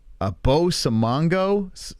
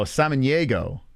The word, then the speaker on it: Samaniego: Bo Samanago?